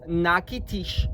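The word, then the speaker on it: Natchitoches: Uh the pronunciation is nakitish for the city.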